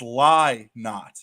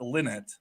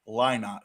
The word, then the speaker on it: Lynott: And since everybody's getting after me for the pronunciations, for those out there, it's Lynott, not Linnet or Lynott. It's Lynott.